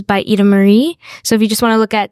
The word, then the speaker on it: Ida-Maria: So it's Ida Marie. I've been calling you Ida Marie. No, I know, because in Italian, like I is pronounced E, so that's why.